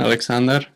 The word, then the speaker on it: Aleksandar: I'm guessing the first name it's pronounced Aleksandar. Yep. Aleksandar.